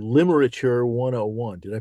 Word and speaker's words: Limerature: Among the things that you've been busy doing is this wonderful, wonderful new book called Limerature 101. Did I pronounce that correctly?